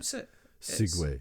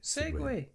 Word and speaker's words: segue: Segue. Segue. It's just is it segue or segue? It must. Do you mean moving from one topic activity? Then you mean yes, a segue.